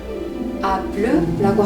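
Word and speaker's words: bleu: 겉면만 아주 살짝 익혀서 내놓는 엑스트라 레어는 프랑스어로 블루라고 합니다.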